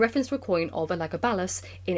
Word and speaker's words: Elagabalus: why we're not saying Elagabalus, which is the English pronunciation, not that it's wrong, but it we both know the phonemic vowel length of the name in Latin, it's Elagabalus uh with a little